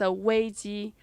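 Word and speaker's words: 危机: chinese we have this word called um crisis pronunciation is a way g which is two words crisis and danger that's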